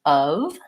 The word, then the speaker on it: of: I pronounce up and how do I pronounce of both of these have vowel schwa which is the sound and that's actually going